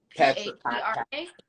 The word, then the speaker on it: Patra: I think it was Patra. P-A-T-R-A. Yeah, she pronounced it me. I think that's I don't want to speak like I don't know, but from what I've heard, that's a Jamaican name. It's Patra.